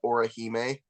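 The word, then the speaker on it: Orihime: The another one is uh Oraheime. How do you spell that?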